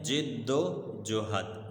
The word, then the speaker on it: جد و جہد: کی جد و جہد، لفظ کیا ہے؟ جد و جہد، جد و جہد، ٹھیک ہے بیٹا۔ اکثر لوگ اس لفظ کا تلفظ غلط کرتے ہیں۔ ان کی جد و